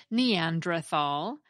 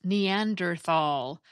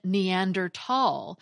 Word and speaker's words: Neanderthal: I said Neanderthal, but it is actually pronounced Neanderthal, or even Neandertal, which is the first pronunciation at the Merriam-Webster